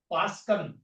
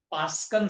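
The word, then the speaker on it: Paschen: Third, Pascan, P-A-S-C-H-E-N, Pascan series. Next, bracket B-R-A-C-K-E-T-T. And last is P is silent.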